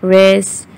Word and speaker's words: wrist: Silent W, answer, who, rap, home, rack, wrist, whose, wrath, and etc.